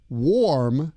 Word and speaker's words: warm: The AR in warm sounds like OR.